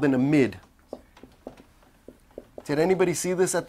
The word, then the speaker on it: amide: Very commonly mispronounced as amide. Have you ever said amide? It's not amide, it's amide.